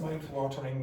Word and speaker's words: mouth-watering: That dish was the single most mouth-watering meal. It's almost the T disappears. This almost always happens where T's and D's at the end of syllables, if they're followed by consonants, are going to disappear.